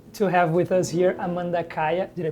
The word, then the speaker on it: Amanda Kaya: very happy to to have with us here Amanda Kaya did I pronounce it right y good she's a guitarist